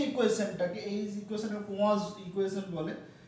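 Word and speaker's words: Poisson: এমনি উচ্চারণ করতে গেলে আমরা যদি এরকম ডাইরেক্ট উচ্চারণ করতে চাই আমাদের মতন তাহলে হয়তো পয়সনস ইকুয়েশন বলে, কিন্তু নামটা এরকম নয় আর কি, বেসিক্যালি পোয়াজ ইকুয়েশন এইরকম নামটা।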